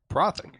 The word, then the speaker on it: Prothic: Yeah, but the TH is Prodic. I don't know how to say it in words, but it's not a th sound. More of a D. Uh, but a fast D. Oh, these are fun. it's a alveolar tap.